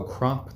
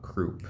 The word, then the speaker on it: crop: Oh, crop, not croup.